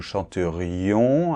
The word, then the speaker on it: chanterions: chanterais il chanterait nous chanterions attention doit bien entendre le i là chanterion vous chanteriez il